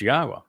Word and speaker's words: Yahweh: person to tell you that Yahweh's name is pronounced Yahweh, and explained exactly why and proved it.